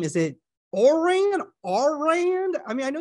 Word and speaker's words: Ourand: It's John Ourand, right? Ourand, you got it.